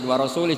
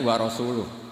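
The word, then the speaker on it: وَرَسُولُهُ: Wa rasulih juga tidak ngurus Rasulnya. Kalau sama Rasul saja tidak ngurus, apalagi sama kita. Sama Sayyidina Ali dibenarkan, yang benar bacanya itu wa rasuluh.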